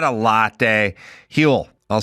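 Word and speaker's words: Huel: Hule.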